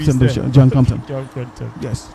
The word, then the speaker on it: Compton: John Compton. Yes. So the P is silent. Just said Compton.